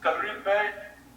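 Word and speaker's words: Kalaripayattu: So Kalari Pipe, Hrithik, I'm so proud of the fact that you said the name correctly.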